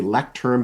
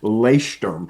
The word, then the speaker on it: Leuchtturm: And I'm also a big fan of the ones it sounds like you say lectern, but it's really pronounced Leuchtturm is how you actually pronounce it, those German journals.